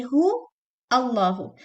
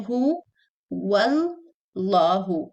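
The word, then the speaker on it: هُوَ اللَّهُ: Some people say who Allahu. This Hamza is not pronounced because it's a joining Hamza, Hamzatul Wasl. And if it comes in the beginning, you pronounce it. If it comes in the middle, you skip it.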